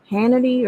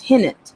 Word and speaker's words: Hinnant: Is it Cannon? Hannity or something? I'm saying it wrong. I don't want to get it wrong. But it's like, I think people they're getting angry about that. I'm just thinking, it's Hinnant, Cannon Hinnant.